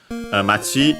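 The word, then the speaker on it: 町: Then we have matchi again. Town also an accented uh as a reminder. By the way, uh actually no machi is accent on the last syllable.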